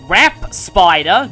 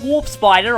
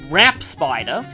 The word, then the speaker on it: Wrap Spider: but here we have Rapp spider not warp spider I mispronounced that last time wrap spider and puppet Fragger now